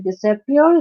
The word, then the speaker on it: disappear: the second syllable and when we say the word engineer so the stress is on the third syllable and especially no